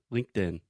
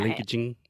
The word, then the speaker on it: LinkedIn: LinkedIn nice very good an American would understand that and if you said linkaging he would have no idea that's a point we